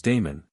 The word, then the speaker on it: Damon: tutor in music was Damon whose name they say should be pronounced with the first syllable short Aristotle however says that